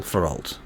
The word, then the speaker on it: Feralt: Right, and then last but not least, tonight we have Avery playing Feralt. One syllable, Feralt.